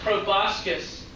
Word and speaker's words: proboscis: That's how that's pronounced, proboscis.